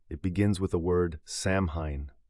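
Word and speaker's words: Samhain: It begins with a word samhine, pronounced saw win.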